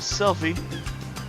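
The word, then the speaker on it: Selphie: great and I believe her name is selfie not the picture it's spelled with a p and she also wants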